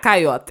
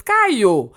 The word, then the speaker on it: Cayo: Anyways, don't say my name is not Coyote. It's Cayo.